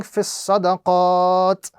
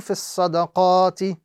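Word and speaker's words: في الصدقات: So in stopping, we will be reciting fis sadaqat as opposed to fis sadaqati.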